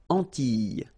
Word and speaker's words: Antilles: So here it's quite interesting because, well, you've got this E and then double L, S. Okay? So final S and E, really you don't pronounce them. So you get this E sound.